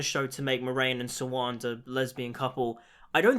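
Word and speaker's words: Siuan: And with the Moraine POVs, we also get introduced to Sawand, Sawande? I think it's Sawand, at least that's how they pronounce it in the show.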